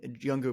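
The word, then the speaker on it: Junger: then tribe is by Sebastian younger who and younger but with a J so Jer it's it's phally pronounced but he um I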